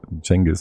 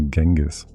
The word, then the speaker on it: Genghis: Like the English like how do they pronounce people's names like wrong? Yeah. Like who makes Jenis into Genghis and stuff?